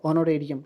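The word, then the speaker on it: honorarium: लोग का दिया हुआ ऑनरेरियम। क्या ऑनरेरियम? ये एच हम लोग का साइलेंट रहता है, इसको हम लोग ऑनरेरियम के रूप में जानते हैं।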